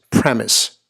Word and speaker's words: premise: say it like that it's as simple as it looks just premise premise the emphasis coming here on the first syllable in this two syllable word similar sounding words and